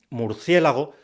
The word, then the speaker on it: murciélago: sílabas porque sí atención antiguamente se decía murciégalo nuestra forma actual murciélago surgió porque la gente trast tocaba las sílabas finales por tanto murciélago es el resultado de una confusión a algunos les costaba